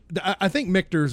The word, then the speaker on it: Michter's: And I think Michter's is right. Michter's? It's spelled close to Richter, like Richter scale.